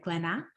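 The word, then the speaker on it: Glénat: Comics publishing house uh I might brutalize this pronunciation is it glena perfect okay a book co-edited with two colleagues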